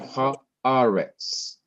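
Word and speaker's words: הָאָרֶץ: Here's another word, haaretz. Haaretz. Ha is 1 syllable, a is the second, res is the third, 3-syllable word. Now in each of these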